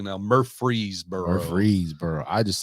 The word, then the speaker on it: Murfreesboro: But I do pronounce it correctly now. Murfreesboro.